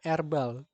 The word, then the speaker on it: herbal: hati-hati di herbal Jadi kalau di British herbal herbal ini ya dibacanya herbal herbal awal secara suara tuh diikuti oleh dimulai dari suara konsonan namun kalau secara pronunciation Amerika orang Amerika itu nyebutnya airbal secara penyebutan itu dimulai dari suara vokal sehingga mengikuti orang Amerika